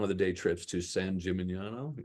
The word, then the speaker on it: San Gimignano: I like to add syllables. I prefer to call it San Gimignano, but apparently that's not right.